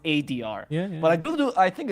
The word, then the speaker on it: 4DR: It's pronounced ADR.